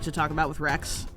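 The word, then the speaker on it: Wrex: So, the first thing that that I always like to talk about with Rex, his name, Rex, even though it's spelled W R E X, the the the name Rex is, you know, pulls from the Latin word for king, yada yada.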